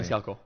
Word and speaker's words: Maniscalco: Look at Sebastian Maniscalco, whatever. Yeah, I can never say his freaking last name. Maniscalco.